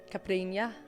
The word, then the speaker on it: caipirinha: Yeah, caipirinha.